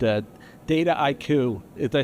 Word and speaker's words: Dataiku: He works for a company called, uh, Data IQ.